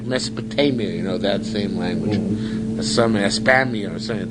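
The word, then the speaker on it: España: In Spain, they pronounce the country Espana.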